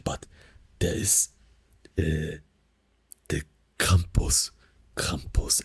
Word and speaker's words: Krampus: Krampus, again, the stronger R sound, right? The like really cold, like French R sound.